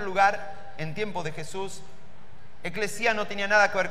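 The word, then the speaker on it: ἐκκλησία: en griego, ahora vamos a ser sofisticados, se pronuncia eclesia.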